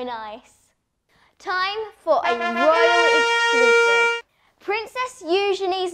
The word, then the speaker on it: Eugenie: they're literally so nice time for a princess you Johnny's name is actually pronounced the way I am saying it but I know some people pronounce it Yugi I know this because the princess told me